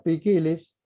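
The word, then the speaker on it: ποικίλος: Miren ustedes, allí está la palabra que se lee poikilos, pero se pronuncia pikilis.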